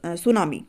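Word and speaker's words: tsunami: cyclone और जो है सुनामी ठीक है टी साइलेंट होता है यहां पर तो इतने टोटल में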